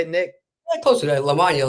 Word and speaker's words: Lamagna: Lamagna, like lasagna.